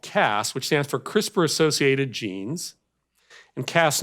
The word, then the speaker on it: CRISPR: caste 9 system so it's pronounced CRISPR the crisper drawer in your refrigerator and what is this